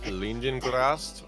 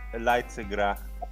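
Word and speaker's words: Leidsegracht: Amsterdam Opera at Leidengrast opens. Is that how you pronounce that? Leidengrast? I think it's Leidsegra.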